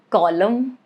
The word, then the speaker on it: column: Rule is it is silent if it comes after M at the end of a word. That is the condition. Like in the word autumn or column or damn. You get it, right? Right after M, but towards the end of the word.